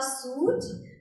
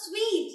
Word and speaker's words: suite: You just book a suit there? No, it's not suit. You don't book a suit. You just buy a suit to put on. That's a kind of cloth. Yes. You just book a suite.